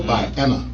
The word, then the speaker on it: Vienna: How do you spell it? VIENNA. See, I thought you said violent high, like you went to a violent high school. Vienna.